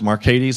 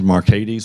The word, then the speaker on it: Marcades: My name is not pronounced Marcades. I grew up with it being pronounced Marcades.